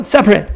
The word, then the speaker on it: separate: 그렇지만 발음은 separate 다시 separate 다시 separate ways.